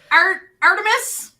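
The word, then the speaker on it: ARTMS: rank of De uh art emis I did learn that's how you're supposed to pronounce the name uh they have the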